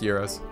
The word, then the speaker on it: gyro: gyro the propeller heroes I've heard it with an H like hero no they're pronounced heroes are you sure yeah